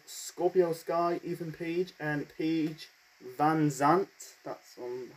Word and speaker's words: Paige VanZant: We got the American top team, that is Scorpio Sky, Ethan Page, and Paige VanZant, that's how to pronounce her name, with Dan Lambert in their corner.